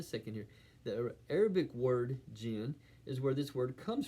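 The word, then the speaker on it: djinn: U, it's spelled DJ J I N, simply pronounced jin.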